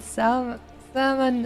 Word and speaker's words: salmon: So, man, I think in not pronouncing the L and salmon is like one of the worst things to me.